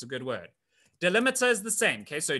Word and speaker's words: delimiter: okay a delimiter um it's called this delimiter that's how you say it delimiter okay so why